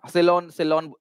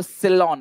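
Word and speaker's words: Ceylon: है हटेगा राहुल बेटा, एस से नहीं है, सी से है, ठीक है, सी से होगा ठीक है, सी से होगा क्लास, सी से, ठीक है, सिलोन मतलब वो सिलोन, इस तरीके से उसका प्रोनाउंसिएशन होगा, राइट, पर्शिया, करेक्ट पर्शिया,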